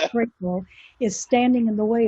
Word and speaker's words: Crapo: current chairman in Idaho, I pronounce his last name Crapo, it's actually Crapo, is standing in the way of even this being discussed.